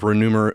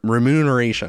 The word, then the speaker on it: remuneration: any other forms of renumer remuneration." I always get the M and N backwards when I pronounce that first first shot. Remuneration.